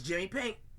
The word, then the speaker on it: Jimmi Pynk: So if you want to get ahead of that, it's Jimmi Pynk. Jimmipynk, just like it's spelled down here.